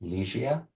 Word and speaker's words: Ligia: Is it pronounced Ligia? Yeah, it's perfect. Ligia is good. It's a Polish name.